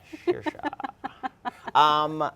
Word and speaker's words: Saoirse: Saoirse.